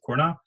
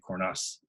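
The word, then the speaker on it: Cornas: um and they would they do say the s in coros most if you've ever taken French you would look at that word and probably try to pronounce it corna for whatever reason they're a little further south so they say the S just like in Jonas they say coros or at least our producers say coros coros a tiny tiny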